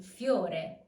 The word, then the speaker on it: fiore: I plus O makes yo. Yo. We've already seen it in fiore. Fiore.